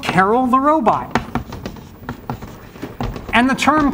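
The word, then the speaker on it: Karel: And some people say Carl, which is kind of actually closer to, I believe, if, I don't know if there's anyone who speaks Czech in the room, but closer to the actual pronunciation. But we say Carol these days because it's kind of like gender neutral.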